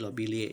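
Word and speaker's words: lobeliae: Kemudian contoh kedua, lobiliae, maka diucapkannya menjadi lobilie.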